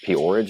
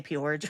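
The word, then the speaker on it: P-Orridge: life of Genesis as Poridge. Is that how you pronounce her name? I think so. Yeah. Because it spelled like porridge, but I it has the apostrophe, so I say porridge.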